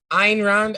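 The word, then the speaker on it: Ayn: so talk to me about uh is it pronounced and rand i'm ein okay she's like she seems like she's german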